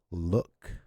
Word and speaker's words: look: This occurs when the double O is followed by a K. For example, look, book, cook, hook, etc.